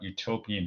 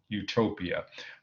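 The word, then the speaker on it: eutopia: another ancient Greek word Utopia okay let me stop here these words are spelled differently but in English pronounced the same so the First YouTube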